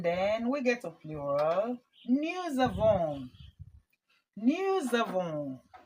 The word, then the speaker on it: nous avons: This S, I pronounce it as Z because we have a vowel here and we have a vowel here. So the S is in between the vowels and that changes the sound to Z.